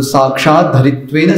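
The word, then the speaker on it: साक्षाद्धरित्वेन: तो साक्षात धरित्वेन समस्त शास्त्र, ऐसा ही कहना है। साक्षात धरित्वेन, साक्षात धरित्वेन, द भी है और आगे फिर धर, साक्षात धरित्वेन।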